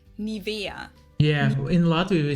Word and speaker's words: Nivea: English native speakers usually say Nivea, Nivea. In German, we say Nivea. Yeah, in Latvia we say Nivea also. Nivea. Wait. We say Nivea. Nivea, so the emphasis is on the E.